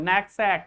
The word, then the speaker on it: knapsack: When you find K before N, you should immediately know that K is silent. You are not going to pronounce it. You should start your pronunciation from N, not from K.